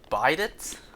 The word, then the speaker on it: bidet: Bidget rhymes with Chevrolet. What? How am I even supposed to attempt to rhyme them? What, Biverlay? But there's no V in the word. Is it really Bidets?